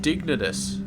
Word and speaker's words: Dignitas: dig Team dignitas No I always have a problem with that team dignitas apparently is the way it's pronounced and yeah so apparently